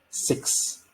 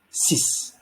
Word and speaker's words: six: slide all right so numbers 6 and 10 are not pronounced as six or dicks but rather like s-i-s or d-i-s so which would be cis or this okay and then you